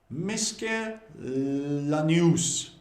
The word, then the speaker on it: miscellaneous: But how do you pronounce it? Well, it's miscellaneous.